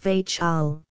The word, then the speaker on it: Vachel: Dot biographical note Nicholas vachel linday 1879 to 1931 vachel is pronounced Vel that is it rhymes with Rachel the eagle that is